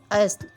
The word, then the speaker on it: اصل: ذکر، عشق۔ لفظ ہے اصل، جس کو عام طور پر اصل بولا جاتا ہے۔ اس کا صحیح تلفظ ہے الف پر زبر، صاد ساکن، لام ساکن، اصل۔ اس جیسے اور لفظ